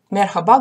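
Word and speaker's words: merhaba: на раба так вот мерхаба говорить конечно же правильно и то есть если она есть это буква в слове то конечно же она должна читаться и произноситься но очень слабо как на выдохе с точкой это буква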